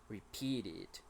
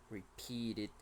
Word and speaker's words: repeated: got it neighborhood neighborhood be careful with the Ed pronunciation here we have the e sound so it is repeated repeated actions repeated you get